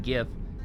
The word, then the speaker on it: GIF: g couldn't be soft I said in GIF it is hard period in GIF it is